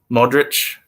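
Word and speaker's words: Modrić: okay that makes sense Modric is pronounced as Modric so the same as Luca doncic if you think of donchic then think of Modric as well yeah Slavic names if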